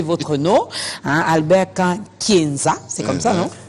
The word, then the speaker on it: Nkankienza: parmi ces gens-là qui n'arrivent pas à bien prononcer votre nom hein Albert k Kenza c'est comme ça non k Kenza kenzaanambo oui moambo ça j'aime à la fin